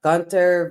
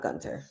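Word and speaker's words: Gunther: You also have Gunter versus, excuse me, I said that wrong. It's not Gunter. This is how you say it. I think we all can agree.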